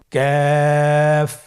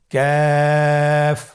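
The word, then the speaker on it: كاف: Calf উচ্চারণের ক্ষেত্রে অবশ্যই পাতলা করে উচ্চারণ করতে হবে এবং 3 আলিফ টেনে পড়তে হবে। আপনারা আমার সাথে চেষ্টা করুন। ক্যাফ। আবার বলুন ক্যাফ।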